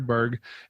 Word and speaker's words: Baerg: going to warn you, Baerg is not spelled the way you think it is. It's spelled a little bit funny. There's an extra silent A in there. But it's Baerg, and if you'll scroll